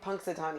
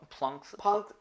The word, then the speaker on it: Punxsutawney: Punxsutawney. It's not with an Zoom L? tight. See what he did there? It's not with an L. It's not plunks.